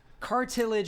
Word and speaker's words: cartilage: say it thank you no cartilage is how you say it what are you talking